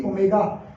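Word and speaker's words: omega: ये डाला था ना, इसको W मत समझ लेना, ये क्या है, क्या प्रोनाउंसिएशन है इसकी, ओमेगा, इंग्लिश अल्फाबेट नहीं है ये, ठीक है।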